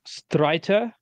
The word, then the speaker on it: Streiter: It's pronounced Streiter. It's a German word.